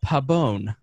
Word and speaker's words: Pabon: feel like I say it to white Pabon yeah there you go okay see I did